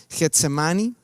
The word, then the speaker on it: Getsemaní: monte getsemaní y getsemaní es una palabra que en griego se pronuncia getsemaní en en hebreo es